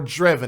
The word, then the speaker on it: Drevon: It's either Drevon or Drevon, and I think it's Drevon.